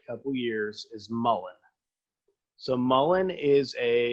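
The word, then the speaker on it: mullein: learned in the last like couple years is mullen so mullen is a it's another ditch plant it doesn't grow can you spell that no m-u-l-l-e-i-n okay okay mullen um it's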